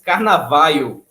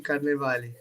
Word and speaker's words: Carnevale: junto rapaz foi difícil eu achei que seu nome era era americano era inglês aí eu tava pronunciando carnavalo ol quase carnaval aí você me deu a corrigida tradução na Itália É Carnaval de Carnevale ah caramba mas você